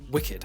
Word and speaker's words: WCKD: A mother drops off Thomas as a child with organisation WCKD, pronounced Wicked, and scientist Ava Page.